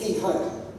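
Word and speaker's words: תהום: The word deep there, as you can see on the slide, is, I gather it's pronounced Tihom. T-E-H-O-M-E, if you like, Tihom.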